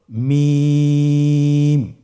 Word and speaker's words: মিম: মিম হরফটি উচ্চারণের ক্ষেত্রে অবশ্যই বারিক হবে, পাতলা হবে এবং তিন আলিফ টেনে উচ্চারণ করতে হবে। আমার সাথে আরেকবার চেষ্টা করুন। মিম আবার বলুন মিম হরফটির উচ্চারণ স্থান দুই